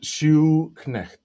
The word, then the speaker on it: Schuknecht: And Schuknecht, it's like a shoe and a knecht.